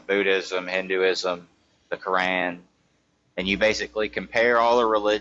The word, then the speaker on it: Quran: It's The Quran, Quran. It's the Quran. Quran, I don't, the Quran, Yes, it's Quran, not Koran.